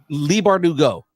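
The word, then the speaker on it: Leigh Bardugo: Lee Bardugo, that's what it was. I was trying to remember how to pronounce her first name because Curtis Corona will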